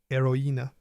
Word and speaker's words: héroïne: The tréma has 2 dots above a vowel. It tells you to pronounce vowel sounds separately. Noël, naïf, héroïne. Think of the tréma as a small pronunciation signal. Slow down. Separate the sounds.